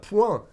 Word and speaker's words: point: Je ne connais point cet homme. So even though the spelling is different, really the pronunciation is the same as the word fist.